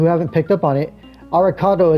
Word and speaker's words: Alucard: For those of you who haven't picked up on it, Arikado is how you pronounce Alucard in Japanese.